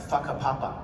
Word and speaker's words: Whakapapa: The thing about how you spell it, but it's pronounced Whakapapa.